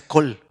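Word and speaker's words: קול: es una sola palabra se pronuncia col y sabe qué significa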